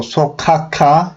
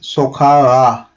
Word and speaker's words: sokağa: So sokaka, it's hard to say, as you can understand. Because of it, we are changing it to soft G. Yeah. So that becomes sokağa.